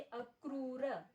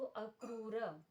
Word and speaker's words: अक्रूर: जैसे अक्रूर तो यहां नीचे की तरफ दिखाई दे रहा है यह र तो यह र उकार के सहित है। तो इसे कैसे क और उ तो अक्रूर इसी प्रकार राष्ट्रान तो